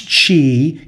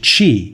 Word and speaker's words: Qi: I guess you pronounce Chi even though it's spelled Qi it's pronounced Chi yes pronounce g that's